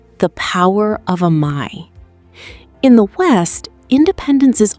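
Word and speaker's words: 甘え: In Japan, there is a concept called Amae, pronounced Amae.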